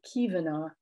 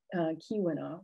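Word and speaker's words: Keweenaw: really reflects language contact so many languages especially german swedish norwegian when there's a w people will pronounce it as a v and that's what you see here with kyvana instead of kiwena right and it's also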